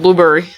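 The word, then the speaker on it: Blubrry: I think you actually pronounce it blueberry.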